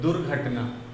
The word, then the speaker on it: दुर्घटना: र का उच्चारण पहले होता है दुर्घटना, दुर्घटना।